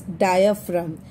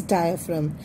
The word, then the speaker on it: diaphragm: Okay, but we pronounce it as diaphragm. G is silent. Okay, it is diaphragm.